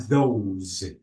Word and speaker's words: those: Because here the S is not S. It is Z. These these and we have long E and those those we have long these those.